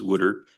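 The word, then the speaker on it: water: And the number of conversations that started about Delo and Philadelphia and how you pronounce w a t- r which is woodard if you're in Philadelphia uh was just wonderful.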